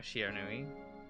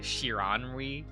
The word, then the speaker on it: Shiranui: and you know they they pronounce his name correctly you know shinui uh a friend of mine watched the show English dubs and then set me a clip of them saying shiranui and I kind of died because they pronounced it like a shironry like oh my God